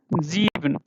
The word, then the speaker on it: sieben: Okay, and then for 7, sieben. How we are saying? Sieben. Yeah, sieben. And then because the vowels are coming after S, so that changes to ja sound.